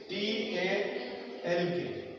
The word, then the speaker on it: talk: What if you want to right the spelling of टॉक, the spelling is T-A-L-K, but the sound is talk.